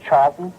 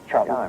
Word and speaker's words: Charlton: And uh number one I was surprised that I pronounced his your name like Charlton. Charlton it comes as something of a surprise.